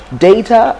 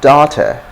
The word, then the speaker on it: data: can you see it so data you can also say data data data in american english you're most likely to hear data and data data data okay so